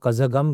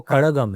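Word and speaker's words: கழகம்: उच्चारण जो होता है जो कई बार हम लोग कजगम कह देते हैं उत्तर भारतीय जो है हां जी द्रविण कजगम बोल देते हैं कजगम नहीं है वो कड़गम है कड़गम मतलब हां अण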